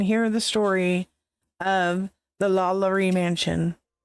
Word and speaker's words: LaLaurie: I always want to say it like French, like LaLaurie.